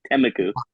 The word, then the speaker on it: Temecula: Yeah, Temeku.